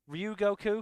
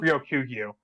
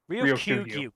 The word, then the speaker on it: Ryokugyu: wind down, considering I always forget how to pronounce his name properly. Is it just Sorry, what? Ryugoku? Ryokugyu. Ryokugyu.